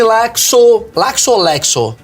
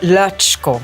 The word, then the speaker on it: Lacsko: Aqui, Madalene Laxo. Laxo. É Lasco, fala. Lasco? Puta, caguei tudo. Não, porque é impronunciável. É húngaro? É húngaro. Aí. É Latchko.